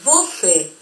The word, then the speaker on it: você: Ahora bien, la E con acento circunflexo se va a pronunciar como una E acentuada del español, E, como por ejemplo en la palabra você.